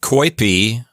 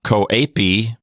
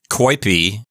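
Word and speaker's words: coepi: conditioning next we have koip the O and the E form a diff thong it's not coap with three syllables it's just coip and that means to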